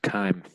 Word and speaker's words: chyme: I thought it was chyme.